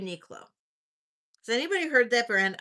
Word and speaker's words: Uniqlo: It's um Unique Low. That's how you spell it. Unilo.